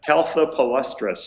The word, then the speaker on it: Caltha palustris: How do you pronounce that again? Caltha palustris.